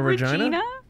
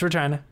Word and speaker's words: Regina: Are you sure it's not Regina? No, it's Regina. There's a reason Regina rhymes with fun. It's in the Deadpool movie.